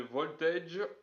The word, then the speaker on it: Voltaije: C'est parce que quand les gens prononcent mon nom, quand ils voient ma chaîne, ils disent, ils disent tous très souvent voltage. Parce que c'est à cause du le AGE, ça donne âge.